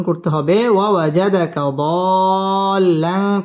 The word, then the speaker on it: ضالا: উচ্চারণ করতে হবে ওয়াজাদাকা দাল্লান চার আলিফ টান দিয়ে পড়তে হবে লাং ইকফা গুন্নাহ করে